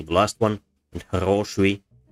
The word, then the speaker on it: хороший: For example, Russian words хорошо, stress syllable, the last one, and хороший, stress syllable, second syllable, quite different.